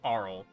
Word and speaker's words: Arle: Why wouldn't you just say like the name Carl without a without a C or a K.